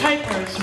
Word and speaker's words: Kuypers: It's Kuypers, rhymes with Kuyper.